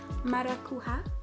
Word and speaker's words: Maracuja: Maracuja, I think it's pronounced.